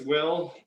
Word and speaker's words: Will: redneck as they say my name is two syllables someone said hey boy oh yeah that's that's how i spell it w-e-e-y-u-l i'm glad you pronounced it correctly uh but by the